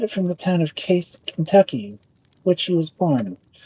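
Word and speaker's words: Cayce: He got it from the town of Casey, Kentucky, which he was born. The name of the town was pronounced pronounced in two syllables, exactly like Casey.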